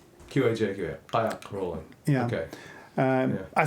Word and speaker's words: qajaq: Yeah, but it's spelled the same way with the Q and J's. Qajaq.